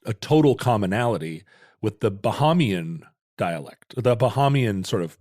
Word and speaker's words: Bahamian: I said Bahamanian for a long time. You added a syllable. That was a Roderickism. Well, that's because that's what Panama does. It should be Panamanian, like Canadian and Bahamian, but it's not.